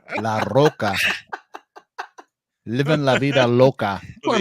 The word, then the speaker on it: Larroca: Roll your R's again. Let me see. Salvador Larroca. M&M variant. No, you're rolling the L, not the R. La Roca. La Roca.